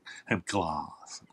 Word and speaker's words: Hemp Glass: Um, so there is a it's a company called Hemp Glass, G Lass, and it's pronounced gloss. Hemp gloss.